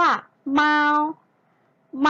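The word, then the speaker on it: 猫: คะ นัก เรียน คะ ออก เสียง ว่า มา เมา มา เมา ๆ แปล ว่า แมว นั่น เอง นะ คะ ได้ เรา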